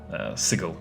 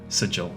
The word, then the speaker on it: Sigil: the city of Dors, Sigil, or Sigil, however you prefer to pronounce it.